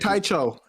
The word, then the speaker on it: Taicho: They said Taicho. Taicho. There you go. It makes sense.